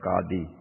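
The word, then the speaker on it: qadi: this into another kolakozhi the correct pronunciation is kadhi and look nadine for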